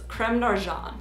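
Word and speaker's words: Crème d'Argent: really big like this technically the french pronunciation of creme de argent is creme narjan so i can't really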